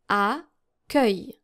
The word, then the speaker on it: accueil: read out loud because you have a U and an E and then also a double C here and it ends in IL. So this is how you're supposed to pronounce this word. Accueil.